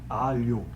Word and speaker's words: alho: O garlic, para nós, é alho. Alho. Como LH. Então, o americano consegue pronunciar porque ele pensa no L como se fosse um LI ou LY e depois o O. Então ele fala rapidinho, alho. Parece igual alho.